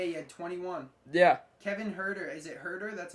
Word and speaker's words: Huerter: Kevin Huerter. Is it Huerter? That's how you pronounce it?